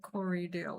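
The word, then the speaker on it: Corriedale: I think it's spelled C O R R I E D A L E. Cory Dale.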